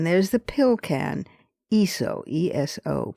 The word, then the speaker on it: ESO: Then there's the pill can, ESO, E-S-O, pronounced ESO, recently cleared by the FDA.